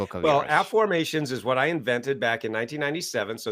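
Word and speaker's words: Afformations: Well, app formations is what I invented back in 1997.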